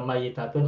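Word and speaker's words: ميّتة: Mayitatun dan maitatun hurufnya sama. Mim, ya, Hmm. ta marbutoh. Ya. Tetapi Yang masih bacanya tasdid, berbeda. masih Kalau tasdid. maitatun, ya-nya sukun. Kalau Hmm. mayitatun, ya-nya tasdid kasroh.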